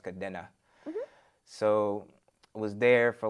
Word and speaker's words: Kadena: Oh air force base called Kadena or we Americans say Kadena but it's actually pronounced Kadena so was there for like about three years